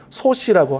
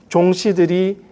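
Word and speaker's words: 宗氏: 그러니까 일본어 발음으로는 소시라고 하는데요. 그 소시 집안을 종가, 소케라고 말합니다. 그래서 스시마의 다이묘인 종시들이 굉장히 많은 문서군을 남기게 됩니다.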